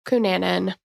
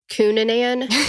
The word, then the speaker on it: Cunanan: Cunanan. There's so many different. Yeah. Like, come on, guys. Spell it out. Cunanan. I know. Yeah. Well, Cunanan is, but it's the wrong emphasis on the wrong syllable.